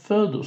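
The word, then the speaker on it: foedus: Вы это слово будете видеть сегодня на слайде еще не раз, оно обычно оставляется просто в латинском написании, да, «фердус» пишется как «фоэдус».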